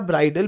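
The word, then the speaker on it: bridal: अगर अगला ठीक है ब्राइडल वर्सेस ब्राइडल से प्रनंसीएशन है स्पेलिंग अलग है इजी है पहले वाला ब्राइडल बी आर आई दी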